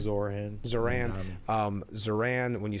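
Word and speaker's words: Zohran: You say it better, Zaran. Zoran.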